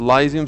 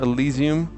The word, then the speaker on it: Elysium: Some people pronounce it Elysium, some Elysium. I think Elysium is right.